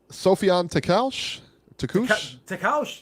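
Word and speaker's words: Sofiane Takoucht: ESPN show here, which was the drizzling, Josh Warrington versus can you pronounce this guy? Is it Sofian Wow, good job. That's it. Sofian Takaush, that's it. Takaush, okay.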